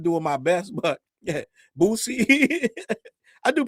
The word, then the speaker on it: Boosie: He said, Challz, it's Boosie, not Boosie. I'm from DC, right? We don't pronounce our Z's all the way. It's certain letters of the alphabet. We don't pronounce them all the way.